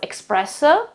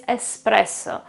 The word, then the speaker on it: espresso: There is no X there, guys, so it's not pronounced espresso. No, it's something different, okay, it's espresso.